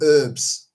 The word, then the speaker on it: herbs: Why is it Americans don't pronounce the H when they're saying herbs? They call it herbs.